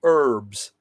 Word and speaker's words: herbs: ARA plucked up the herbs or some people like to say herbs they don't pronounce the h and careful like we